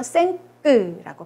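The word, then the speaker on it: cinq: 5는 생끄, 이하고 n이 만나서 앵으로 발음이 되고요. 요거는 특이하게 끝에 자음이 발음이 됩니다. 그래서 생끄라고 발음을 해요.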